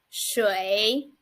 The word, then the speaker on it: 水: and here is our simplified chinese it is pronounced as shui well let's look at this character so this